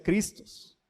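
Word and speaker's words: Χριστός: porque no hablo griego pero se pronuncia cristos qué significa ungido lo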